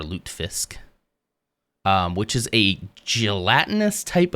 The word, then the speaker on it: lutefisk: I think we in our American household started calling it lutefisk. I don't think that's how it's pronounced. I think it's more lutefisk, which is a gelatinous